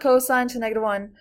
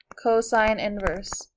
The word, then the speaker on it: cosine inverse: It's not cosine to -1. This whole thing is cosine inverse.